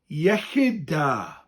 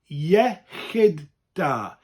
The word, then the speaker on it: Iechyd da: Iechyd da. Iechyd da. Yeah? Like, yeah, nice. It sounds like the word kid, but with a chyd. Chyd.